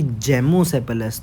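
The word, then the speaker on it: gamosepalous: ये गेमो सेपल है लेकिन आप इसको अगर ऐसे प्रोनाउंस कर लो कि जेमो से पलस तो इसके अंदर यह जम हो गया जम यानी जम जाना आपस में सेपल्स का गेमो सेपल अस अब इस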